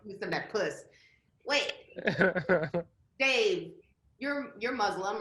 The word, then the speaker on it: Muslim: I was gonna ask you, is it Muslim or Muslim? What do you? No. It's Muslim.